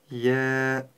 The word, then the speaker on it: ي: е Нет надо обозначить её мягкость и произнести Ja